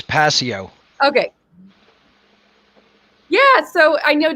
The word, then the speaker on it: Passio: to be here absolutely the pronunciation of your last name for people it is passio okay yeah so i